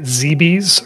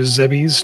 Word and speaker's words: Zebes: All right, so we've just landed on planet Zebes, or Zebes, depending on how you want to pronounce it.